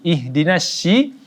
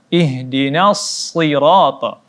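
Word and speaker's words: اهدنا الصراط: benar ihdinashirotol Iya ashirot kesalahan-kesalahan kita dalam membacanya Yakni dengan jika kita tidak bacanya dengan huruf AC ataupun kita baca dengan huruf C ihdinas sih ataupun ihdinas Sina ini salah kedua-duanya tetapi ihdinas sirotol huruf shod yakni huruf Sin yang ditebalkan Walaupun dia berbaris kasrah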